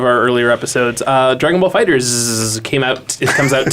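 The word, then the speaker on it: Dragon Ball FighterZ: out on ps4 and xboxone that it is fighters yeah I'm sure it is we'd like that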